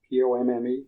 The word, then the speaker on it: pomme: p o m m e I'm not sure how you pronounce that.